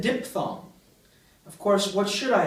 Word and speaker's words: diphthong: mini spiel about I and ow, how I pronounce this word? You noticed. I said diphthong.